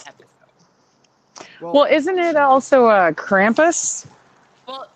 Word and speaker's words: Krampus: Well, isn't it also Krampus? Well, it's in America we say Krampus, but it's actually pronounced Krampus.